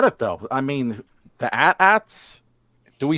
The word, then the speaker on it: AT-AT: AT-AT. That is how you say it. Kick in there the egg. And then ATRT. After. Yeah. Sounds like my cat. Yeah. See, Frankie, all the real fans say AT-AT.